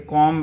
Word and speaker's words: comb: फिर कुछ वर्ड और हैं, जैसे कॉम्ब है, COMB, कॉम्ब है लेकिन इसको कॉम पढ़ा जाता है, ठीक है।